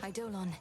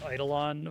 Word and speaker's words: Eidolon: I hate that it's pronounced like that. I learned that in Final Fantasy IX. I always thought it was pronounced Eidolon, which is like sounds much cooler to me, but Eidolon.